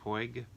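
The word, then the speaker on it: Puig: Claudia Puy, how do you say that? Pig.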